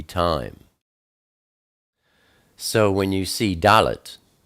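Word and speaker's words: דלת: Dalet is the number 4, and it's pronounced D, like door.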